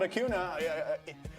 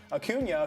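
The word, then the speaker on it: Acuña: And they did it by jumping on Atlanta, taking advantage of some miscues in the outfield by Aun Ronald Akuna. I always say his name wrong. Akunia, who's one of the best players in baseball.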